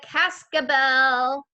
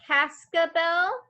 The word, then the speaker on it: cascabel: is a long word it has three syllables kaska bell cass c-a-s okay show me your word show me caska bell nice word joanna good